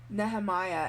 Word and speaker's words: Nehemia: Now people talk about Nehemiah, and I'm gonna say Nehemiah because even though Sarah J Maas says it's pronounced Nehemia, it's not Nehemia, because the name Nehemiah is in the Bible and it's pronounced Nehemiah.